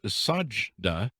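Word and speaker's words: Sajidah: and i'll just start referring to you as sajdah do i get their pronounced right yep are you your first name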